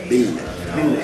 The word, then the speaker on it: Ville: You have to kind of really put the L's. Ville.